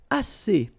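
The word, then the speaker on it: assez: all right and then as si si means enough okay SC remember two vowels here ah and then and then double s so it's really strong to s SC SC o que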